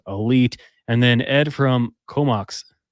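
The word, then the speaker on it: Comox: ago he was Elite and then Ed from comok comok that's how you pronounce BC yeah I'm not too familiar with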